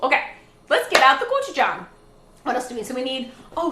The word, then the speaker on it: gochujang: If you say gochujang, I'll still love you. But gochujang. Get it? Gochujang. A lot of people mispronounce it, but that's okay.